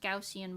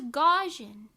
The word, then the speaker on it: Gaussian: I still can't believe it's pronounced gaussian blur I'm never going to get over that I thought it was gajan gausian seagull you think I